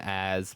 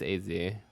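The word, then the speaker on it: AZ: say his name but it always says a z all caps implying that it's pronounced as two separate things let's see I usually call him as but I think technically it's easy oh that looks sick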